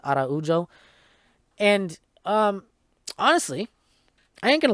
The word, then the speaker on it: Araujo: So the main event was number 5 ranked Alexa Grasso versus number 6 ranked Viviane Araujo, or Araujo, I think. Yeah, that's how you pronounce it, Araujo.